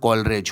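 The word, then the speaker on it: Coleridge: Lyrical ballad जो था वो यहाँ कॉलेज नहीं होगा, यहाँ कॉलरेज होगा।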